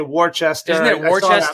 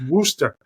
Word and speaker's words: Worcester: names um because yeah you see the way it's spelled and everybody wants to say Worchester right no it's wer wer yeah like a